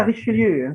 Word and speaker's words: Richelieu: Selanjutnya Bacanya Richelieu, Richelieu.